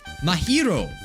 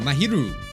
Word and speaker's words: Mahiru: behind maharaja's death or mahiro keeps saying it wrong mahiru you probably need to